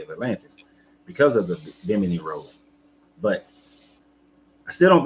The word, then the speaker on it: Bimini: Bimini. So I've been saying it wrong as well, but Bimini.